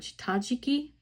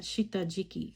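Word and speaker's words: 下敷き: I pronounced the pencil board Shitajiki. I was pronouncing that Shitajiki for such a long time, and that's so incorrect.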